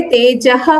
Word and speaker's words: तेजः: हाँ, बस यहाँ पे तेजः क्षमा होगा, वो लोप नहीं होगा विसर्ग का, इतना बस ध्यान रखना। तेजः क्षमा धृति क्ष के पहले विसर्ग आता है, उसको प्रोनाउंस करते हैं।